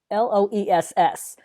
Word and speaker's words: Loess: soil that's called Loess it's spelled l OE l o es s but it's pronounced Loess and it's a very fertile rich